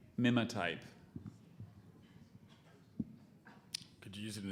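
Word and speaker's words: mimotype: know his coffee order is there any alternate pronunciation there's just the one Mima type both parts went from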